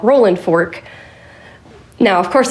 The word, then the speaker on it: Rolling Fork: Um, but the town, it's spelled rolling fork, but I do not say it that way because that's not how the locals say it.